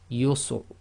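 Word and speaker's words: يسر: You really need to listen to a professional Qari to see it, because sometimes the Ra is almost not audible. So that's yusr.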